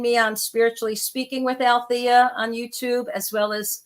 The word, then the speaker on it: Alethea: And Alethea is spelled funny. It's ALETHEA. That silent E is the only thing quiet about me, because as you can tell, I do like to talk a lot.